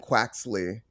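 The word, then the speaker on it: Quaxly: So it's Sprigatito, Foy Coco, and Quaxley.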